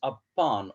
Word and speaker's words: upon: The last part of the word upon is said with more force or stress. Upon.